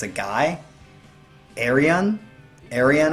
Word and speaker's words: Ayreon: Ayreon, I think is how you pronunciate it.